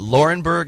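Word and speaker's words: Laurinburg: are from the town of North Carolina's what laurenburg is that how you say it yes population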